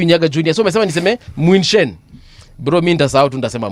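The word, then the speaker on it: München: Mbuvi, Munken is pronounced as Muinshen, not Munken.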